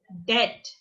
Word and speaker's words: debt: I am under debt। DEBT, debt। B is silent in this word, debt।